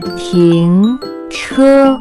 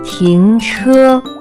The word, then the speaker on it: 停车: Next vocabulary that we have is to stop or park a car, which in Chinese can be pronounced as 停车, 停车, 停车.